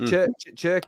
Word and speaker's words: Cherki: Is it pronounced Cherki?